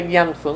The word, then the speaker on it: Gyatso: Se escribe Gyatso. Dalai Lama. Sí, pero se pronuncia Gyamso, ¿no?